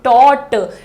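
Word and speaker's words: taught: होती है टीच उसका तीसरा रूप होता है टोट टी ए यू जी एच टी थोड़ा सा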